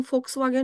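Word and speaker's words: Volkswagen: जर जारा म्हटलं किंवा v वरून फोक्स वाग्यान म्हटलं तर तुम्ही त्याच स्पेलिंग एफ वरून नाही लिहायला पाहिजे ना कारण की तुम्हाला माहिती आहे फोकस जारा म्हटलय पण स्पेलिंग एस वरून आहे.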